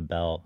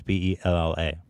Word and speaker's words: Bella: One's B-E-L-L-E and one's B-E-L-L-A. It's Bella with an A.